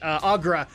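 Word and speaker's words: Aggra: So we'll actually see later that I want to say her name is Goel, but that's not right. Agra will join us in Draenor because of fan backlash.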